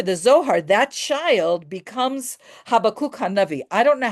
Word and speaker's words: Habakkuk: According to the Zohar, that child becomes Habakkuk Hanavi. I don't know how you say this, the prophet Habakkuk, whatever you call him. Teresa, can you unmute yourself so I can hear how you pronounce it? Habakkuk.